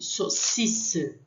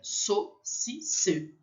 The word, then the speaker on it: saucisse: O I aqui, saucisse, saucisse. Lembrando, eu vou falar, a gente vai ver de novo, a U tem som de O, então fica saucisse.